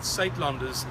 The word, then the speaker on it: Suidlanders: South African accent yes the word satelanders is spelled s i d l a n d e r s and if you'd like